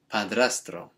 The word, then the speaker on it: padrastro: we get padrastro okay there's a lot of tongue rolling in that one because we've got the dr and then the tr sounds strong okay so it might take a bit practice to to get your mouth around that one stepfather or stepdad now